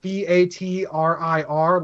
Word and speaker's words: Vatriir: Basically, I was thinking something in the same vein as Vader, but not exactly like it, but with that same sort of hard consonant sound that makes it sound vicious.